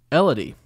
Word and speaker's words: Elodie: from first raven is from Elodie which rhymes with melody just she let me